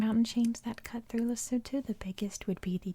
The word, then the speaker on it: Lesotho: of lesotho and yes it is pronounced lesotho sorry the cars tonight